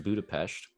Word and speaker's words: Budapest: to Budapest and then which is pronounced Budapest oh